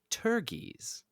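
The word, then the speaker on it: pteruges: And your word of the day is turgies. Turgies. Spelled with a P for some reason. P-T-E-R-U-G-E-S.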